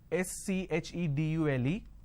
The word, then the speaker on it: schedule: I mean by this the British pronunciation is schedule and American pronunciation is k schedule and this is a